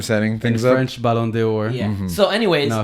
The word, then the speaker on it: Ballon d'Or: no Premier League player has won the Ballon d'Oro. However, The Bolondonoro? I don't know how to What are you pronounce saying? that, John. Ballon d'Oro. How do you pronounce it, Gabriel? Ballon d'Or.